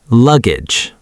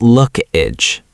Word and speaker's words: luggage: Say this word slowly. Luggage. Listen again. Luggage. Not look-age. Right, it's luggage.